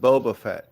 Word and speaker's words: Boba Fett: It's pronounced Boba Fett, Ollie man.